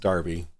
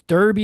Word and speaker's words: Derby: Big Fish wants me to remind you that it's pronounced Darby. Darby, I'm sorry. Listen, we're Americans. We're Americans. It's American. Look, if you want it to be pronounced Darby, you put an A in there. Exactly. Look, it's an American exceptionalism here, all right? It's Derby because there's an E. Yeah. Put an A in it and we'll start pronouncing it Darby, okay?